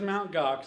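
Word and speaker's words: Mt. Gox: I was sophisticated myself I kept pronouncing this until yesterday Mountain gue I guess I beat you I thought GOx I mean that sounds like a Klingon dish or something but it is mount GOx I found out and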